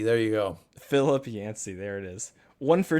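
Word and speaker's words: Yancey: think about that one this author his last name rhymes with Clancy it's not it rhymes with Clancy it starts with a y Phil yansy there you go Philip yansy there it is one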